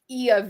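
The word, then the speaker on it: Oia: get to is called e of village now it's spelled o i a some my my mouth doesn't make natural greek pronunciations because you would never guess that's how you say that so this is the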